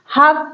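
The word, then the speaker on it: half: मतलब होता है बछड़ा हाफ देखिए हाफ मतलब आधा तो देखिए यहां पर हाफ एच ए एल एफ यहां पर हाफ पढ़ा जा रहा है एल साइलेंट है सॉरी यहां पर हम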